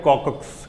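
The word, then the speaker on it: coccyx: इसका स्पेलिंग बड़ा typical type का है, COCCYCX ऐसे करके कुछ है, लेकिन इसको बोलते हैं कॉकिक्स, कॉकिक्स, कॉकिक्स, COCCYCX, कॉकिक्स, कॉकिक्स, कॉकिक्स बोलिए, क्या बोलिएगा?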